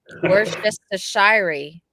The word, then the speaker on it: Worcestershire: It is pronounced Worcestershire sauce. Worcestershire.